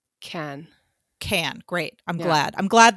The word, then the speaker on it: Cannes: canned it's canned up can con what should i call it sarah you're the expert in french it's can can great i'm glad i'm